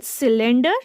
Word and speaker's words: cylinder: Jasmine, in cylinder, C is again followed by Y. So it should be pronounced as letter S, cylinder.